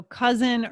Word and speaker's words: cousin: this is tricky right if we haven't heard the word before we may assume it's just that s sound but it's actually the z sound okay so cousin reason